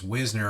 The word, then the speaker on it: Wisner: Amber Wisner, it's Whisner apparently is the correct pronunciation.